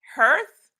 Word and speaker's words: hearth: leading me back hurts I think the preferred pronunciation is hearth Earth heart okay Linda I'm pronouncing it Hearth cause I like the way it sounds but if it's another